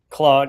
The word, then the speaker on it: Claude: Claude, how do you say that? Cloud or Claude. Claude. Yeah. Yeah.